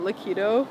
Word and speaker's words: Liquido: Liquido come about? Liquido.